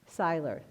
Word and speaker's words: Selier: a hand yes selier I don't know if I said her last name did I say your last name right how do you say it Syler Syler and on